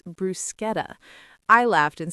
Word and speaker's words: bruschetta: I thought it was bruschetta, but the waiter corrected me nicely. It's brusqueta.